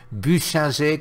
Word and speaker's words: Buchinger: suis alsacien donc voilà je sais le prononcer buchinger comme on dit en france mais regardez ceux ci